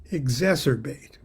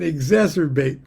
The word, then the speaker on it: exacerbate: practice of magic can exacerbate exacerbate it rhymes with trilobite magic can exacerbate existing pathologies I'm not